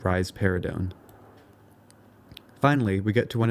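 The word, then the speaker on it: risperidone: for this is rarido you can remember that rise paradon gives rise to a pair of breasts by pronouncing it rise paradon finally we get to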